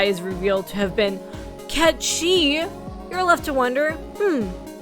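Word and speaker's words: Cait Sith: plush mugal as a quick aside some people pronounce his name Kate Sith because that's how it's spelled phonetically but my understanding is that Ki is more accurate to its Scottish Origins and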